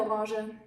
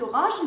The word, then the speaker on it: Orange: The color is pronounced orange, orange, without an E in the end.